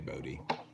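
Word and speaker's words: Bode: and stuff and yeah Arturo asked how bodis pronounced and it's it's Bodhi cuz her just her name is Emily Bodhi and so it's I've heard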